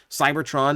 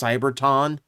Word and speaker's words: Cybertron: pronounced in weird ways like Cybertron is consistently pronounced cyberton weird little situations like